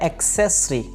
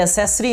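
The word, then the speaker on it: accessory: Next हमारे पास आलात की जो इंग्लिश होती है वो है एक्सेसरी। ये एसेसरी नहीं है, बल्कि एक्सेसरी, एक्सेसरी।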